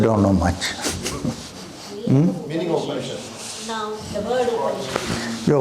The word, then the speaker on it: Upanishad: The Upanishad consists of 3 syllables. The first one is Upa, second one is Ni, and the third one is Shad. Upa, Ni, Shad.